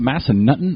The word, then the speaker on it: Massanutten: Is it Massanutten or Massanutton? Massanutten. Okay, I said it right then.